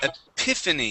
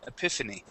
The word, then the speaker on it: epiphany: First up, we have the word epiphany. You are very close with the pronunciation. Okay, all of these sounds were right. The stress just goes right here on that I. Epiphany.